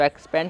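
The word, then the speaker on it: expand: तो यहाँ पे जो ई और एक्स है तो इसे हम सिर्फ एक्स पढ़ रहे हैं। इसमें जो ई है वो आपका साइलेंट होता है, तो सिर्फ एक्स। तो एक्स, फिर यहाँ पे जो पी है इसे हम प पढ़ रहे हैं और यहाँ पे ए है इसे हम ए की मात्रा, तो बन गया पे।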